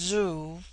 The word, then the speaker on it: zu: On the other hand, z, when an initial, is with them a sound in which the breath is sucked inward, and thus zu, pronounced zoo, which in their language